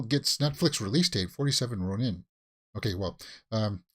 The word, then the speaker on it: Ronin: Netflix release date 47 run in okay well um Ronin right is the way that the Japanese pronounce it um SQL gets Netflix